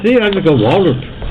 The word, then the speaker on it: Waldroup: Well, I mean, I ain't even saying your damn name wrong. I'm sorry. Because when I see it, I just go Waldroup. It's Waldroup.